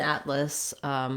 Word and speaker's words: atlas: so first of all an atlas which is a collection of maps a book of maps has stress on the first syllable and so we have that a black cat vowel and we hold that a little bit longer atlas and then this letter a is going to be a schwa sound or possibly also